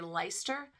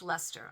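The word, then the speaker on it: Leicester: So these guys here are made with 70% Faulland wool, 15% bluefaced Lester. That's out of England and it doesn't look it looks like it's you would say Lyster but it's actually pronounced Lester.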